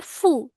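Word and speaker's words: ふ: এটা হু হর কথা, বাট উচ্চারণ হবে ফু।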